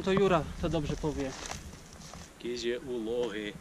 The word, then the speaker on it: Kizi-Uvlohy: Prawie dochodzimy do kotła Kyzy Lochy, jeśli dobrze to wymawiam, a jeśli źle to wymawiam, to Jura to dobrze powie. Kyzy Lochy.